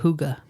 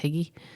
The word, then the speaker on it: hygge: g g e I think it should be pronounced higgy but it's pronounced Huga cuz it's Dana and they they gotcha spell